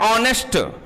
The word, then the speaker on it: honest: बेटा हम कहते हैं ऑनेस्ट, HONEST, क्या नाम बेटा इसका?